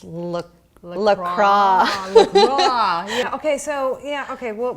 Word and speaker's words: LaCroix: do water flavored water or carbonated I love Lacroix okay but I've recently found out that it's not pronounced like that it's look lacrosse okay so yeah okay what will end at